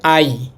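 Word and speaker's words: 아이: তো জিরোটা বাদ দিলে এটার সাথে থাকে আ। ডান হাত আমার ডানদিকেরটা আ। আবার জিরো বাদ দিলে থাকে ই। আই এর মত ই। তো এই শব্দটার উচ্চারণ হবে আই।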